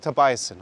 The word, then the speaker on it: Tobiassen: Tobiassen, okay. Pronouncing a little bit too German-esque. So, Tobiassen.